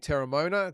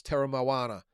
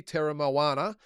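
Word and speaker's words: Teremoana: This is Terra Moana. I've been told to say it properly. I've been saying Terra Mona. Apparently, it's Terra Moana.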